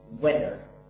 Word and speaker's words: winter: is something about this pronunciation of winter so it will be winner so winner so that's something calleded te so winner like somehow it's reduced so I don't say winter no winner when the same as